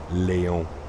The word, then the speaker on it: Léon: No, it's Léon. Léon. I'm pretty sure that's how you would pronounce it in French. Léon.